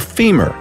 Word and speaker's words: femur: By the way, the strongest bone by all accounts is the femur. Rhymes with lemur.